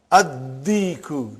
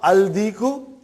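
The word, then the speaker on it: الدّيك: And when you will pronounce them with alif lam, you will not pronounce lam. Okay, look at this, brother. Come to number 3 and go down. Come to number 3 and go down. Addiku, not aldiku. Are you with me? Addiku.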